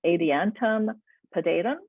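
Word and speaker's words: Adiantum pedatum: next is the northern maidenhair firm which is pronounced adiantum podaidum as their latin name and this is a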